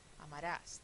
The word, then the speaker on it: amarás: Amarás, termina en S, aguda, entonces le pongo tilde, ¿sí?